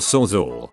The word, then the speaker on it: Sawzall: It's pronounced and spelled sawzall.